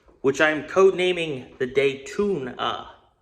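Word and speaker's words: Daytoona: I'm code naming the day tuna sounds terrible until you spell it out d a y t o o n a it's a cartoon style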